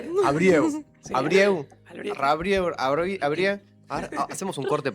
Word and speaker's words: Albrieu: ¿cómo lo pronunciaba? Albrieu. Abrieu. Sí, Abrieu.